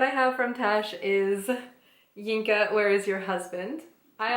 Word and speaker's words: Yinka: Her mother, her aunties, and cousins who all want to know, Inca, where is your husband, is how it's pronounced on the back, which feels actually close to French pronunciation of English words because they do not use the H's.